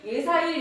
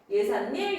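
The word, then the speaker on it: 예삿일: 발음해봤더니 예사일, 예사일 불편하네요. 그래서 어떻게 해요? 예산일, 예산일. 예산일, 예산일. 니은일. 이게 왜 그렇게 됐다고? 빈 공간이 있다 보니까 시옷이 들어갔고요.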